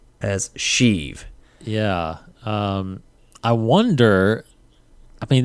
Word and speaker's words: Sheev: Sheev Palpatine. Yes. Sheev.